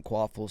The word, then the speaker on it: Kvapil: I pronounced the V. I don't know why. I don't know how to say it, but that was my best attempt. It's Kvapil. No, it definitely is. Kvapil.